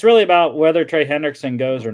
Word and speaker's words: Hendrickson: Hendrickson?